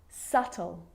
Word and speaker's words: subtle: it before the consonant T so think of these examples subtle depth and doubt so seeing all of